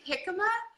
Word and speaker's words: jicama: Now that I've said that, I don't think that's how it's pronounced. Is it actually jicama? And he goes, yes, that's jicama.